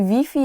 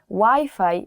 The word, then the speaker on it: Wi-Fi: So you have to change the Wi-Fi pronunciation. Even though the word is the same, the spelling is the same, you have to change Wi-Fi to Wi-Fi.